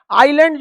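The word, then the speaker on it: island: में आएगा आप समझिए आईलैंड होता है आइसलैंड लिखते लेकिन आई क्या रहता है साइलेंट इसे हिंदी में क्या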